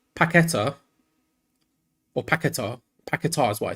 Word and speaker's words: Paquetá: Frank's saying on Portuguese, Paquetá is pronounced Paqueta. The accent on its last letter makes it ta instead of ta.